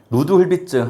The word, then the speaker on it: 루드훌비츠: 루드훌비츠 안정도 판별법에 의한 방법 중 불안정한 제어계의 특성 방정식은? 자, 74번은 얘가 루드훌비츠라고 읽어요.